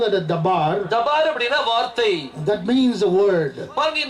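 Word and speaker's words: דבר: தபார் அப்படின்னு சொல்லி சொல்லுவாங்க that is dabar ஆனா இப்போ அதை ப்ரொனௌன்ஸ் பண்ணும்போது when you pronounce that இப்போ modern இப்ப pronounce today if you pronounce that as a modern way இதை தவார் அப்படின்னு சொல்லி சொல்லுவாங்க they called as the b அப்படிங்கறத வி ப்ரொனௌன்ஸ் பண்ணுவாங்க been put it as a v ஆனா நான் இப்போ moderniz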